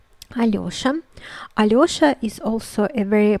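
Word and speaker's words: Алёша: as ye so in this case it is pronounced as allosa alioshan aliosha is also a very popular name in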